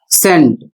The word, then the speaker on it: scent: अगला शब्द है SCENT जिसका उच्चारण है सेंट और इसका अर्थ है खुशबू या इत्र।